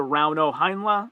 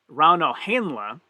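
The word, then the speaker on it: Rauno Heinla: points will go to round o heinlei uh sorry rauno henla is the correct pronounced pronunciation so it's it's like a european pronunciation and e in europe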